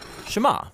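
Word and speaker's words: שמע: hear or listen which in Hebrew is pron pronounced shama that's where the prayer gets its name now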